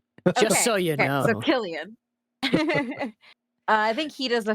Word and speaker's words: Cillian: I was corrected during a general meeting one time by an exec and they said it's Cillian actually.